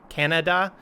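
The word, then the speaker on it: Kannada: sinhala and this one it literally sounds like canada k-a-n-n-a-d-a canada uh and then khmer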